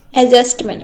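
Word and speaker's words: adjustment: হ্যাঁ, এখানে কিন্তু ডি এর উচ্চারণ হয় না। হ্যাঁ, এ ডি জে এরকম থাকলে পরে আমরা প্রধানত ডি এর উচ্চারণ করি না, বুঝতে পারছো তো? এইটার উচ্চারণ হবে কি অ্যাডজাস্টমেন্ট।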